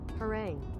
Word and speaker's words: harangue: again she continues her what harangu probably gonna kill my bit rate trying this a lengthy and aggressive speech pronounce harang oh harang okay she continues her harangues